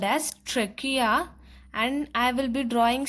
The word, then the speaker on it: trachea: You pronounce it as trachea.